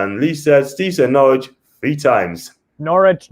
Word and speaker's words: Norwich: new and lee lisa steve knowledge three times norwich norwich norwich yes right yeah that's how you say it